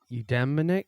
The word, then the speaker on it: eudaimonic: And you mentioned the eudaimonic. How do you pronounce that?